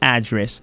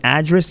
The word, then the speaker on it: address: Address c'est américain. Address c'est britannique, la prononciation.